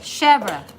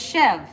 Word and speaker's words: chèvre: What is chev? That sounds like Chev. a knife. Chèvre. It's a Chèvre. goat cheese. It's goat cheese. It's a very mild goat cheese. It's usually whipped. It's super spreadable. It's spelled chèvre. Yeah, it's but spelled pronounced CHEVR apostrophe E. Chèvre.